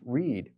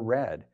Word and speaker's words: read: For instance, the English word READ could be pronounced read or read, depending on whether it's the present or the past tense.